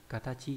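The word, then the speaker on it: 形: Âm cương của chữ hình này là katachi hoặc là kata.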